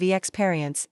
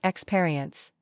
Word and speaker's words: experience: For example, I kept saying, "I have 5 years of experience instead of experience." The AI taught me that experience has the stress on the second syllable, not the first.